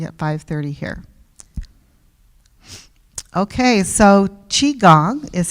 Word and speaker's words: Qigong: Okay, so Qigong is how you say this. Qi, it's pronounced Qi.